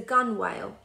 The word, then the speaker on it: gunwale: Tom sat on the edge of the boat, known as the gunwale. Rhymes with tunnel.